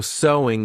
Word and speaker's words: sewing: Because of course the pronunciation is the same as sew. There's no sewing, though adding an ing. So sewing is the activity, but the pronunciation is the same as the word.